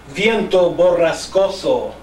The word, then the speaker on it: Viento Borrascoso: Viento Borrascoso. That is a perfect pronunciation, I'm sure. And if it's not, Gary would have corrected him by now.